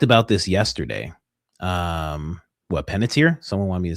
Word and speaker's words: Panettiere: I was like, "Oh, little did you know, my wife already she said it to me because I was like, Hayden Pennis something." My wife's like, "Penniter."